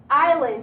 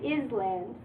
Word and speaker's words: island: so we have culture island yeah we don't think is land the S is silent you say island island okay and then we